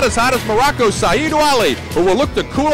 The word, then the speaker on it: Ouali: It's Ouali.